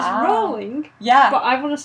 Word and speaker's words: Rowling: I know it's Rowling like bowling, but...